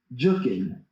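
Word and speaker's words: Jookin: And it eventually, in Memphis, I eventually stumbled upon this dance style called Memphis Jukin, pronounced Juk.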